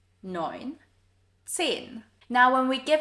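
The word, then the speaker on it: neun: 9. EU here is pronounced as oi, as in the English word for boy. 9.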